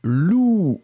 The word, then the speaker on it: loup: le deuxième c'était lou le P final n'existe pas enfin il existe mais il n'est pas prononcé alors on va juste